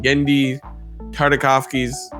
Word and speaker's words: Genndy Tartakovsky: He first appeared in the Star Wars Republic comic book series and later in Genndy Tartakovsky's, yeah, I said it right, original Star Wars Clone Wars cartoon.